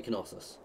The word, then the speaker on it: Knossos: On however you actually pronounce that. I don't know. I think you say Knossos.